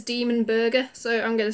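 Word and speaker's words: Dimmu Borgir: I can never pronounce D mu burger someone tried to tell me to pronounce it as demon burger so I'm gonna say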